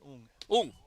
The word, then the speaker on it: Ng: I think you pronounce that ung.